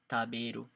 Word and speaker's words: 食べる: But in this case, if you see the kanji with the hiragana beru, you know that we're gonna pronounce it as taberu.